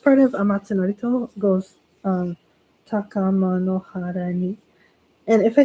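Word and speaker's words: 高天原に: everybody, the first part of Amatsu Norito goes Takama no hara ni. And if I said, like for example, taga tagama no hara ni, like I mixed up the syllable, it's okay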